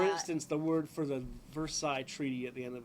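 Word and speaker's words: Versailles: world war if you if you sound it out it's versales right or veres something but if you the way it's supposedly pronounced is ver like lots of French words where like half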